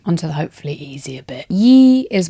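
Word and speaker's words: 一: Yi is 1 and it's a flat tone. I'm not sure that I've got an easy bridge for that. Yi, I've picked one up maybe. Yi, yanking it.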